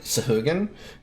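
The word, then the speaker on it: Sahuagin: If I recall correctly, the proper pronouncing is like sahugan.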